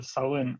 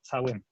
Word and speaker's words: цæуын: первом слове «шален», да, пишут они «цален», и северяне произносят это «сален», а в школе в Южной Осетии они произносят как «цален».